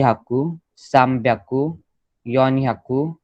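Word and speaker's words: 三百: सान प्याकू इज 300, 600 is रुक प्याकू, 800 is half प्याकू। Okay, got it, pronunciation समझा। सो फिर 100 का सीरीज क्या चलेगा? याकू, नी याकू, साम प्याकू, योन याकू, गो याकू, रुप प्याकू, नाना याकू,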